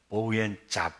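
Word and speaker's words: Võ Nguyên Giáp: 베트남의 장수 예 보구엔지압이라는 보엔 잡 이게 이제 그 베트남 발음이 이 보엔 잡이라는 사람이 잡이 잡이지 스티븐 잡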